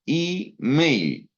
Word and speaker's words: email: Email. ¿ya? Email. Mail es correo. Y la E, ¿no? La E que se pronuncia I, email.